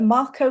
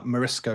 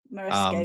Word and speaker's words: Morisco: And this is on, is it the Marco River? I always say it wrong. Masco River. Oh, yes. Sorry, I know what you're on about now. It is the Morisco River. Morisco.